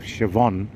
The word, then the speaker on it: Siobhan: by the name of Siobhan, who has the BH in her name. So I said, what is that BH mean? So she says it's the V.